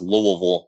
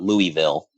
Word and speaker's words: Louisville: that don't live in the Kentucky area it's pronounced Louisville not Louisville the plan is for it to be the